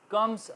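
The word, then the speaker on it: comb: अभी हम देखते हैं आईएफ D letter B कॉम after M इन D ending of D world रेमैन silent पहले हम स्टार्टिंग में देख रहे थे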